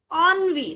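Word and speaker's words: ennui: हरिस्टिक्स right ऑनवी now this is a French word remember the French pronunciation and the spellings are very different so the spelling is इ एन एन यू आई एंड the pronunciation is ऑन वी okay that's the pronunciation so ऑन वी means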